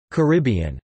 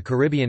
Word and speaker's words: Caribbean: common pronunciation in the Caribbean itself, but according to the Dictionary of Caribbean English Usage, the most common pronunciation in Caribbean English is in fact on the first syllable, car, bn.